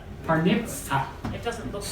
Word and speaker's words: Parnizca: Parista. I haven't heard that one before. It's Parita. Parnit. It doesn't look like it. So, so the ZC is a T.